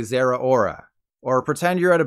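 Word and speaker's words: Zeraora: the Unicorn kitty cat Zara Aura I've heard people call it zorora but you need to think Sarah Michelle Geller and Rita Ora when you say Zara aura or pretend you're at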